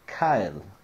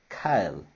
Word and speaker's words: kale: swiss chard a selga more popular in the united states but here has the same name just pronounced in spanish kyle kyle kale kyle